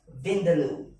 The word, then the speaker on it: vindaloo: Okay, so how do you pronounce this? Vindaloo.